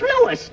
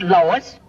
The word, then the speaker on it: Louis: the plant Lois Lois me name is leis not Lois Jake W everybody enolates me name wrong it's LS l o u i s Lois uh Louise Lucy